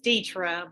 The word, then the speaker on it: Deetra: actually it's Deetra, but people mispronounce it, so I just abbreviated.